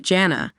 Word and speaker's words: Jana: debate surrounding the name Janna and how it varies depending on where you are in the world so here's the deal Jan Dugger pronounced Janna with a hard J in American English has sparked quite the